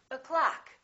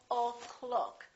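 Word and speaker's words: o'clock: this uh sound uh so we say a clock we don't say o clock we say a clock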